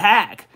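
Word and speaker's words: Haq: Last time you came on, I said H-A-Q, but I know on Spontic, you said you call it Hack. Man, he's got a great live stream. How you doing, Hack?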